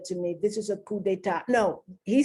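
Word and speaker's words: coup d'état: he said to me do not pronounce the p it's not koop they ta it's not a coop it's a coup d'etat and then he spelled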